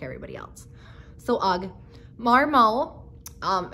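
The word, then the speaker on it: Marmot: everybody else so ugg marmol um it's m-a-r-m-o-t the t is silent marmo uh probably comparable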